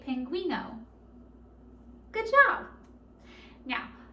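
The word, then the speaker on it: pingüino: know can you say that with me say pinguino good job now like i said penguins like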